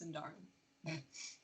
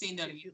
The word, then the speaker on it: Sindarin: It's also it's not pronounced Sindarin. It's Sindarin.